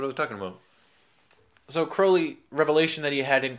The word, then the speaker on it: Crowley: English occultist Aleister Crowley, or Crowley as it's actually Crowley. Pronounced.